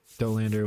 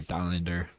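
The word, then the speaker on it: Dollander: Dolander was really struggling or Dander, whichever you prefer pronunciation wise.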